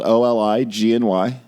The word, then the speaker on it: Oligny: It's spelled Oligny, just like it sounds.